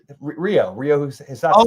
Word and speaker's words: Rio Hisatsune: Rio Hisatsune. Oh, okay. That's the way it's supposed to be pronounced, but people keep pronouncing it funny.